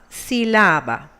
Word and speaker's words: sílaba: Another example, the word sílaba. It ends on a vowel. According to the rules, it must carry the intensity in the penultimate syllable and should be pronounced as sílaba. However, it has the intensity in the antepenultimate syllable. It is an exception and must be marked.